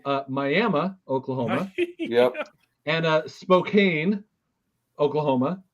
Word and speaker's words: Miami: They also have Miami, Oklahoma. Wait, no, not Miami. Miami, Oklahoma.